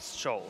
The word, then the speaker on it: Scholes: I've been saying Scholes. Well, it is listed on just like shoes. Well, like Yeah. Dr. Scholes. Scholes.